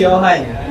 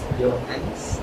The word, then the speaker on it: Johannes: Johan. Yeah. Johan what? Johan what? No, it's Johannes. Johannes. Oh. That's right. Oh, what's That's rhyming. his surname? Kumabas tayo ng mga English majors. Oh. Johannes.